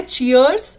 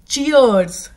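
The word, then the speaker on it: cheers: की बात नहीं है यहां पर एस की जगह आप समझ लीजिए जड या फिर जी लगा हुआ है चियर्स repeat after me चियर्स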